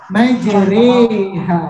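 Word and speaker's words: مجراها: Tulisannya majro, tapi suaranya begini, majre, cara bacanya.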